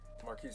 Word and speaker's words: Markese: handle so people can give you a follow marquis m-a-r-k-e-s-e m-a-j-o-r a lot of people